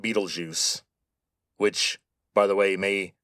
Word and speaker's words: Betelgeuse: By the way, that is how you say that name. Betelgeuse. Now, the spelling is German, but the name comes from Arabic.